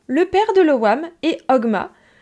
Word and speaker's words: Ogma: père de lewam et Ogma la mère prononce hogma parce que je le prononce pour que vous fassiez le lien donc le père de Lewa met Homa ou hogma si vous avez absolument envie de prononcer le jeu la mère